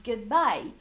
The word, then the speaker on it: get by: And they have one accent. So we don't pronounce them separately, get by. No, it's get by, okay? The accent usually goes to the second part of the verb, but they are one thing.